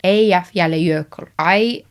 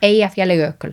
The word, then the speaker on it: Eyjafjallajökull: should say, I think I know how to pronounce that volcano that did a load of smoke. Eyjafjallajökull. I'm not going to look it up because I don't want to know I'm saying it wrong. But Eyjafjallajökull.